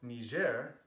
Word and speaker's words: Niger: when I'm speaking Catalan niger should only be called me share if you're having a complete conversation in French so since we're on